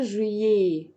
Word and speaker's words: juillet: وفي الاخر بحط او تي اللي هي الاي تي ومش بنطقها. مش بنطقها. الاي تي دي بنكتبها فين؟ الاي تي بنكتبها لو عايزين نستخدم كلمة وكذا. ده وكذا بنستخدم الاي تي دي، اخدناها. او تي بتتنطق ايه، فبقول جوان، جويي.